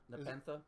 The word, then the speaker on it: Nepenthe: because it's pronounced Nepenthe.